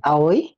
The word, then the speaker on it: Aoi: sky yun no s Paano ba pronunciation doon awi awi aw aoy a aoy aoy pero kasi Depende sa Kanji eh Kung yun yung